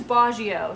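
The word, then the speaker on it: Baggio: I met boggio so my husband's name is bajio so if you see it it's b-a-g-g-i-o I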